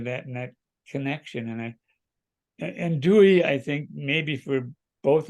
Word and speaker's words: Dewey: Yes, it's very important because first I discovered when I was there, the first thing I discovered that I pronounced Dewey, and it's Dewey.